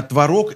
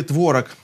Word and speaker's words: творог: Как говорить правильно, творог или творог? С древних времен философы, лингвисты, пастухи искали ответ на этот вопрос. А потом махнули рукой, и многие словари сейчас допускают оба варианта.